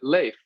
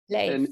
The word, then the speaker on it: Leif: Yeah, I pronounce it Leaf because I've born and raised in America, and usually people read it that way. But sometimes I'll get corrected by Europeans because in Sweden they pronounce it Leif, Leif. and then in Norway it's Life.